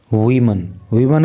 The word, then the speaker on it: woman: देखो, जब WOMAN होता है तो उस समय ये नाउन एक वचन होता है और इसका जो प्रोनाउंसिएशन अर्थात जो इसका उच्चारण होता है वो होता है वूमन।